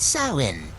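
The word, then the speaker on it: Samhain: is rooted in the ancient Festival of samine pronounced sawin a Celtic celebration marking end of the harvest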